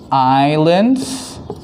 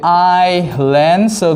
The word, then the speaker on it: island: Okay, now first one over here we say island, so the S is silent, we don't say the S.